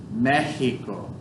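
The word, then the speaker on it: México: The X makes like an H sound. Mexico.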